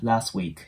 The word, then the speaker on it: last week: ますで最後の last week の T もここでは発音しないので last week のな感じで